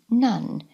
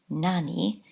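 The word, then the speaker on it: 何: The final kanji that we're going to be learning in this series is nan, which means what. It has an alternative pronunciation, nani, but we're going to be using it as in what number. So we're going to be saying nam bang. So the pronunciation we want is nan.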